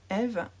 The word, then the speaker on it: EV3: Parce que j'ai une page Patreon de ma marque créatrice EV3, Eve, qui se prononce... Ah, ça s'écrit EV3, mais ça se prononce Eve comme mon prénom.